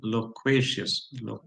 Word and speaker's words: loquacious: Yeah, loquacious. Loqua is written here, but the pronunciation is loq, loq, loquacious, loquacious, loquacious, loquacious.